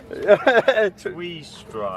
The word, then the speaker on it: Tweestrijd: Who's going to try and pronounce that one? Tweestrijd? Tweestrijd, is it, Martin? How do you say that? Tweestrijd.